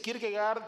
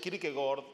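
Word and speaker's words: Kierkegaard: de Kirk se dice Kirk gard se puede decir Kirk gord porque la pronunciación algunos pronuncian así por la pronunciación danesa así que por ahí ustedes escucharán que algunos dicen Kirk gord no por la la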